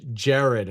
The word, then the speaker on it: Gerard: And Gerard says, thanks, awesome. He says, Jared. Okay, so I said Gerard. See, he says, Jared is how it's said.